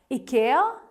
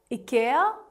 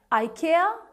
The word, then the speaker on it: IKEA: Well, if you were to go by the correct Swedish pronunciation, which this brand actually is, it is IKEA, IKEA. But usually English speaking people end up pronouncing it as IKEA, IKEA. But the correct Swedish pronunciation is IKEA.